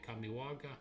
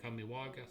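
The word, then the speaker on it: Kamigawa: This is the Kamiwaga. I was saying it wrong. Kamiwaga.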